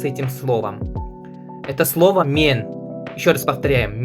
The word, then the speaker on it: мен: Это слово мен. Ещё раз повторяем, мен. М е н, пишется так.